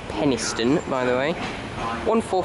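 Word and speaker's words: Penistone: for for pacer from Sheffield via Penniston that's pronounced Penniston by the way one for 401 saturate three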